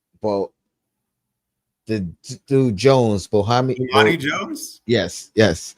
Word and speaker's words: Bomani Jones: now I feel like I'm a butcher his name, but but the dude Jones, Bohami, Bomani Jones? yes, how you say it now? Bomani Jones?